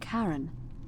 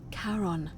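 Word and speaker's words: Charon: It's just as you described it, only your pronunciation is a little off. The name you heard wasn't Karen. It was C H A R O N. As in Karon, the fairyman of the dead.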